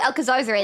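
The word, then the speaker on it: Alcazarzaray: Once I've made Or enough money, Alcazar-Zare, that's how you I'll buy pronounce a it again.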